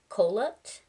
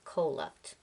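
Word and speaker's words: Kholat: the Eastern slopes of cup I think that's how it's pronounced k h o l a t cup nine hikers would die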